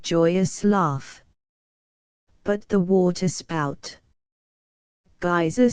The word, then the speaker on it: geyser: The geyser, a word the Icelanders pronounce geyser, and which signifies fury, rose majestically from its summit.